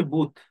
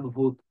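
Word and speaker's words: booth: বোথ pronounce, বুথ pronounce কেমনে করে, আমি ছোট থেকে আমাকে বলতো ATM বুথ, বুঝতাম ভূত, এটা হচ্ছে বুথ, বুথ নট ভূত। বয়ের উস্যুকার থ, বুথ।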